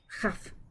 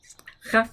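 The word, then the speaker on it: כף: Chaf. Chaf sounds just like chet. Ch. Again, it's that palatal fricative, right? Like blech. Chaf.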